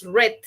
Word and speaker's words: read: Pero su pronunciación en pasado es red. Suena como el color.